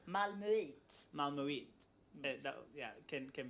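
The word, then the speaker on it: Malmö: How do you say it? Malmu.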